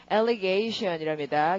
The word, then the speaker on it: allegation: 발음이 어떻게? allegation이랍니다. 게이에 동그라미 해주시고요.